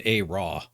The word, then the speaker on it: ARAW: There's just like there's something bad about the silent W, and it's like a different pronunciation of the A. More like an O, raw. The RAM. Rams up here, raw.